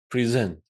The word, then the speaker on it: present: When it's a verb, let's have a look. See? Present, when it is used as a verb, it's on the second syllable. See? Present.